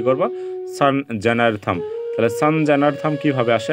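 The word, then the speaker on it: সংজ্ঞার্থং: যেখানে আছে কি গ্যারথম এটিকে আসলে আমরা সংস্কৃত উচ্চারণ কি করব সান জেনারথম তাহলে সান জেনারথম কিভাবে আসে আমি এবার সেটি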